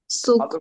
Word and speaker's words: Zug: जेड मतलब, जेड को स पढ़ना है आप, Zug, तो सूक ना। तो Zug.